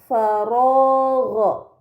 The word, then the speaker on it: فراغ: Pada kata faragha terdapat harokat fathah yang berada di huruf ro bertemu dengan alif. Ini dinamakan mad tabi'i, maka harus dibaca panjang selama 2 harokat.